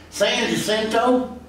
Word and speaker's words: San Jacinto: deal money that the san jacinto monument was erected or excuse me because i got to say it like they said in houston san jacinto monument which by the